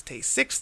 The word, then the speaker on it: Tay-Sachs: So the important thing is to know that there's no hepatosplenomegaly here, and the fact that you need to pronounce it as Tay-6 disease, that'll help you remember to get the beginning of that word.